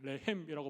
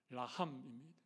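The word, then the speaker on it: רחם: 긍휼이라고 하는 단어가 좀 어려운데, 이 긍휼은 히브리어로 라함이라고 합니다. 레헴이라고 발음하기도 하는데 라함입니다.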